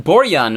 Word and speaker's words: Borjan: Apparently I've been pronouncing it wrong for the last 40 episodes. So it's Milan Borjan.